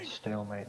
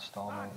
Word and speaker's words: stalemate: well first of all stalemate not stalman no yeah well I'm